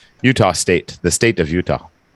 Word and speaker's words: Utah: Yeah, it's pronounced Utah.